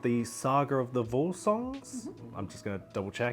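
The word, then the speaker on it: Völsungs: I believe it's called the Saga of the Volsungs. I’m just going to double check. Is that correct? The pronunciation.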